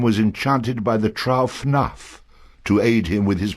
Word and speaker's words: Fanarf: Fanarf rhymes with barf.